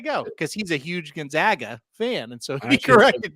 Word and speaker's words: Gonzaga: What's their nickname? I said the Zags. He said exactly, not the Zogs, the Zags. So Gonzaga. Nice. So there you go, because he's a huge Gonzaga fan, and so he corrected me one day.